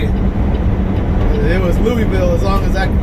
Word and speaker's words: Louisville: He said, man, you say Louisville like a real Kentuckian. And I said, yeah, I had a family friend in California teach me how to say it. It was Louisville, as long as I can remember.